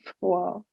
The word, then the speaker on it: froid: Il fait froid. Froid. Last d is silent.